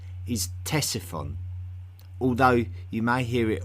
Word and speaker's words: Ctesiphon: Its name is Ctesiphon, although you may hear it also called Ctesiphon by those who pronounce the otherwise silent C at the beginning of its name.